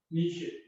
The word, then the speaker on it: niche: Niche. Niche. Niche. This last E is not pronounced.